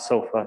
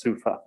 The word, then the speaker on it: SUFA: It's not SOFA, it's SUFA.